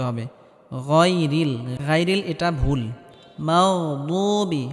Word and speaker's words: المغضوب: মাগদুবি, মাগদুবি, এখানে গয়নে হালকা আওয়াজটা জারি থাকবে। মাগদুবি, বুবি, এখানে দাল বলা যাবে না, বদ, বদ মোটা হবে।